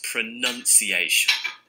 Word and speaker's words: pronunciation: it wrong as well it's not pronounced iation okay we pronounce something but when we're talking about it in this way its pronunciation pronunciation none pronunciation not pronunciation as a pronunciation teacher